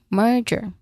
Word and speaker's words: merger: There's a J letter J sound here like the J in jump or Jerry. So, that's that's it. Oh, yeah. You can say it as Jerry. the chair that the first syllable that's how you say it the last syllable of merger merger okay merger so focus on making a consistent vowel sound followed by the R sound merger again merger and